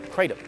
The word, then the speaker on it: kratom: The main ingredient inside this bottle is Kratom, sometimes pronounced Kratom.